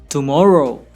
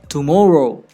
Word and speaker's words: tomorrow: Listen to these words carefully when I pronounce them. Breakfast, banana, tomorrow, university, information. Can you hear it? The highlighted parts of these words are stressed or emphasized.